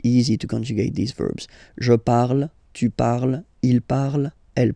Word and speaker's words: je parle: ending e, and then the way to pronounce it is je parle, parle. So remember, we put it, okay, but then we don't really pronounce it.